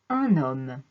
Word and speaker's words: un homme: de deux manières différentes devant les mots d'origine latine on fait la liaison et on entend le ou de 1 un homme un hélicoptère devant les maux d'origine